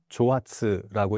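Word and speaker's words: 蒸発: 그니까 한자로 증발를 일본어로 읽으면 조아츠라고 읽는데 이게 갑자기 사라진다고 해서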